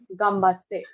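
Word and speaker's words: 頑張って: में एक ही है, इसको हम वर्ड्स के डिपेंडिंग प्रोनाउंसिएशन के बेसिस पे एम भी प्रोनाउंस करते हैं, तो वो एक एम आ जाता है, गम्बात्ते। आप देखो तो आप गम्बात्ते भी बोल सकते हो, बट यूजुअली इसको गम्बात्ते बोलते हैं, गम म बात्ते।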